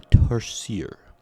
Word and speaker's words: tarsier: The Tarsier. That's how Wikipedia told me to pronounce it.